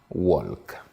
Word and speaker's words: walk: Je prends le L de W-A-L-K. Donc, pour un francophone, le francophone a appris à libeller, à sortir les lettres. Alors, il dira walk. Alors qu'il faudrait dire walk.